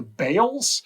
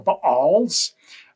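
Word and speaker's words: Baals: king who followed the I'm going to pronounce this two different ways. The the Bales or sometimes I've heard it called the Balls.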